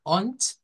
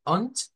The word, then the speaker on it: und: O si la que hemos visto en el versículo, que es UND, vea, que se pronuncia como ont, vea, ont, en vez de la D suena una T, nos quedamos, bueno, ¿y por qué?